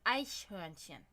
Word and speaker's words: Eichhörnchen: So it's ache horn. Ache horn is pretty much the name of squirrel in German. Eichhörnchen.